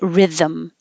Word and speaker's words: rhythm: resting and Rhythm Rhythm it doesn't look like there's anything anything between the th and the M but just because you have to move your tongue position you're going to make sound and a little m is going to happen the same thing happens